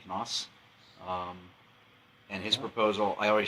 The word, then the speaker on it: Knaus: How do you pronounce his name? Knaus.